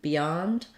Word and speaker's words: beyond: the word Beyond so usually letters be say the I sound like in behind or because because they're unstressed but in Beyond um it's kind of hard to do the I and then follow with this y Glide Beyond so I I think